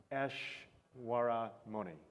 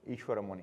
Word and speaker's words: Ishwaramoni: So it's Ashwaramoni. Ishwaramoni. Ishwaramoni. Yeah. See, we were practicing this before we started, and I'm still getting it wrong.